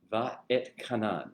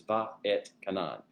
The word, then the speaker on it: Va'etchanan: Va et Kanan. It's 3 kind of syllable or 4 syllables, 3 basic words, Va'et Kanan. It's said all together, Va'et Kanan.